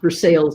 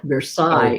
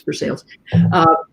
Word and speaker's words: Versailles: And it is pronounced Versailles in Kentucky. It looks like Versailles if you speak French. But yeah, it's Versailles.